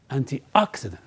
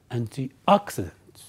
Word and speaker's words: antioxidant: anti and T ax I Dent when you pronounce it we stress the word word Ox so you say antioxidant antioxidant antioxidant right so what is an antioxidant well it's